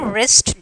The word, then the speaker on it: wrist: And then wrinkle. And then W is the silent red.